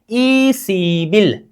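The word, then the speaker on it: 이십일: दोनों को जोड़ने का मतलब ब प्लस ई, बी, ई सी बी, र नीचे आ जाने पर उच्चारण क्या होगा, ल होगा, क्या, ल होगा। उच्चारण कीजिए, ई सी बिल, क्या, ई सी बिल,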